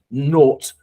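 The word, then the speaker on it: Naut: never pronounce it right I think it's called note because it's British but it's n-a-u-t uh but basically they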